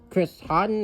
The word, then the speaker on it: Chris Houghton: Big City Greens, Chris Hilton. Did I pronounce that right? Yes, Chris Houghton or Houghton, but yeah.